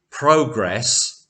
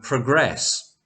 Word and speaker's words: progress: So, progress and progress. You will progress well with your English and you will make lots of progress.